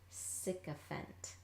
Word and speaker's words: sycophant: Sycophant. Right? So we don't necessarily pronounce it fant, sycophant. It's more like a schwa sound, like an E or an sound, depending on how you pronounce it.